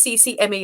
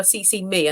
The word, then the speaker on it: CCMe: how to pronounce it it's cc me as in i'm carrie cronin and cc me into your work and i'll help you get it done that's good branding we've